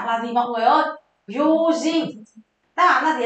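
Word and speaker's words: 用心: Dụng tâm đọc là gì mọi người ơi? Yojin.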